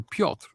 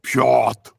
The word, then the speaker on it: Piotr: can't pronounce my name it's polish for peter piotr and the r is almost silent so you can go my dad goes bjort i'm like dad come on back i finally